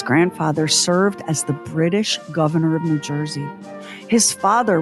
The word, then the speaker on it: Gouverneur: boy was christened governor pronounced like the elected office but spelled like a fancy French cheese again your old money at work Morris's grandfather served as the British governor of New Jersey his